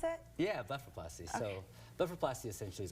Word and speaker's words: blepharoplasty: Is that how you pronounce it? Yeah, blepharoplasty.